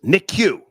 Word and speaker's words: NICU: Okay, someone else says Star, it's pronounced NICU.